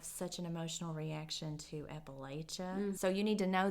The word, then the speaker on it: Appalachia: or the short a oh it's it's appach Appalachia appal yeah so there's the so I think that's interesting is how people have such an emotional reaction to Appalachia so you need to know this if you're